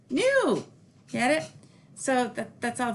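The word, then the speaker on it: nous: pronounced which means we but it's pronounced new get it so that's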